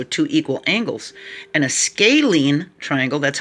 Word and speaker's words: scalene: an isosceles triangle has two equal sides but it has also two equal angles and a scalene triangle that's how it's pronounced sk scalene has no equal sides no